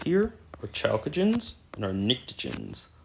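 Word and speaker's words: pnictogens: our chalcoagens and our ntoens that's how that's pronounced the p is silent like a pterodaurus a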